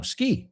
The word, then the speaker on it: ski: No, ski. We say it the same, menos la E delante.